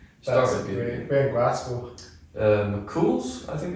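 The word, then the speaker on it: McChuill's: McCool's, I think it's pronounced. No, McCool's. that. It's like an Irish spelling. It's not spelled how it sounds.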